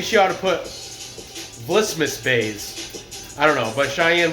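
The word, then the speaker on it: Buys: The first fight I'm gonna cover is the female strawweight fight between Mallory Martin and Cheyanne Vlismas, also known as Cheyanne Bays, pronounced Bays.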